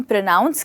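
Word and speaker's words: pronounce: है प्रोनाउंस पर दोस्तो दोस्तो इस वर्ड को हम प्रोनाउंस कहते हैं और इस वर्ड को हम प्रोनंसिएशन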